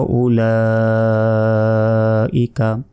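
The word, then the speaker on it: أولئك: উলাইকা আলা হুদাম মির রাব্বিহিম। তারপর ওয়াও জবর ওয়া, হামজা পেশ উ, ওয়া উ, এই ওয়াও অক্ষর উচ্চারণ হবে না, এর উপর জবরজের বেশ কিছু নাই।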